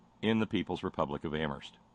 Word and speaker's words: Amherst: the People's Republic of Amherst where I will add only the H is silent so I will I